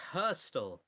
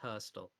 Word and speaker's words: Heristal: It's Hurstel. Hurstel. It's written Heristal, but it's pronounced Hurstel.